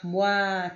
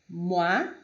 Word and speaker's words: moi: Então, quando houver uma palavra que tenha o O e o I juntos, por exemplo, como a palavra bonsoir, moi, toi, mademoiselle, que é escrito com O e I, a pronúncia deste é sempre wa, wa. Como neste exemplo, moi, toi, bonsoir, mademoiselle, mademoiselle, ok? Qualquer palavra que tenha o O e o I juntos vai ser pronunciado como wa, wa, ok?